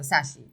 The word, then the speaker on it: Shashi: Because it's spelled S-H-A, but it's pronounced S-A, so Sashi.